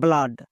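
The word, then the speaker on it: blood: যদি ডি থাকে তখন ডবল ও এর জন্য আকার সাউন্ড করবো যেমন দেখো ব্লাড আমরা এক্ষুনি বললাম ডবল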